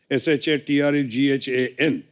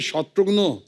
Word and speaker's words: शत्रुघ्न: भिन्न भिन्न प्रांत के लोग आज तक मेरा नाम किस तरह भिन्न भिन्न तरीके से उच्चारण करते हैं। मिसाल के तौर पे मेरे बंगाली फ्रेंड अभी तक मुझे कहते हैं कि रे शत्रुघ्नो केमन आशीष।